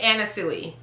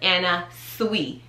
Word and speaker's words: Anna Sui: list roll it okay i would typically say anna suey but that's not how you pronounce it you pronounce it anna sui like s-w-e-e who would have thunk